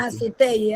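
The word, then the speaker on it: Naso Tjër Di: Nazoteye, profe. ¿Cómo? Nazoteye creo que se pronuncia. Nazutey, ajá, exacto.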